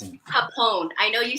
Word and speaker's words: Phaphon: It's Phaphon. I know you said Phaphon earlier.